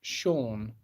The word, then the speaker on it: Cian: I went to school with Cian and she pronounced it Sean.